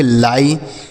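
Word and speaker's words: lie: ई इसे हम पढ़ेंगे लाई एल आई ई लाई पी आई ई इसे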